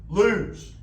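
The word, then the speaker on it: לוז: In Hebrew, the the word that's used there in the uh NLT, the wrong path is lose, which rhymes with booze.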